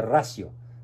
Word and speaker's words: ratio: y razón o encíclica fides et ratio conte se pronuncia radio que significa encíclica fe